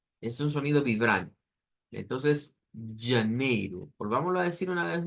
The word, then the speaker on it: janeiro: já, já, Es un sonido que debemos de hacerlo como que fuera la Y del español o como cuando usamos la doble L. Yi, yi, yi. Es un sonido vibrante. Entonces, janeiro.